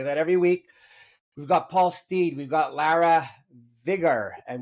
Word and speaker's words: Stead: It's Paul Stead, rhymes with bread or dead, which is a funny thing.